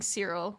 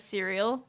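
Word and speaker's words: Syril: I genuinely keep mispronouncing Cyril as cereal because I can't remember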